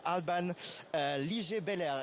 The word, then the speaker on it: Alban Liger-Belair: Today I'm joined by Alban Liger-Belair. Is the pronunciation correct?